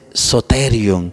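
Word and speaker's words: σωτήριον: Y se dice salvación, se dice soterion.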